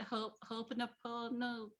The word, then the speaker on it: Ho'oponopono: Ho'oponopono prayer?